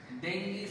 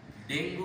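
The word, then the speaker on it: dengue: আবার দেখো এই এখানে দেখো, এখানে এই এক্সাম্পল এখানে আছে, ডেঙ্গি fever is a fatal disease. For your kind information, ডেঙ্গু উচ্চারণ হবে না, সঠিক উচ্চারণ, পারফেক্ট কারেক্ট প্রনাউন্সিয়েশন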